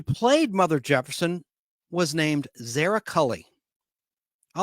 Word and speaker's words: Zara: Mother Jefferson was named zarak Cully I like that name Zara Zara you say Zara I say Zara Zara Cully her last